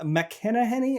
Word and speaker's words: McElhenney: So it's starring our favorite Ryan Reynolds and Rob McElhenney. I never know how to say his name. I always say it wrong. But I know add it to the list. It rhymes with McPenny.